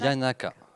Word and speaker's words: Yanaka: Yanaka. Y-A-N-A-K. Ah. Super, bah voilà, C'est comme ça se prononce en fait.